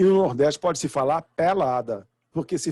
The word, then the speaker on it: Nordeste: Porque o sotaque do Nordeste tem por característica empregar vogais abertas em sílabas pré-tônicas. Então, por exemplo, nós falamos Nordeste, mas em alguns dialetos do Nordeste fala-se Nordeste, com O aberto.